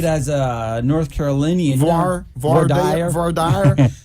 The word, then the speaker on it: voir dire: Voir dire. It's voir like dire.